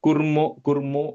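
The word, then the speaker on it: कुर्मो: शर्वाण्यै ते नमो नमः The kurmo is a short u. कूर्मो I heard a long u कूर्मो there.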